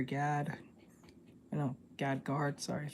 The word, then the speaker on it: Gad Guard: of people know this one but it was Gad gear Gad I no Gad guard sorry I said it wrong um there was